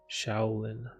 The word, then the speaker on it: Shaolin: Shaolin.